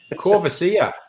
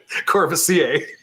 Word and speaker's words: Courvoisier: Corvasia. Courvoisier.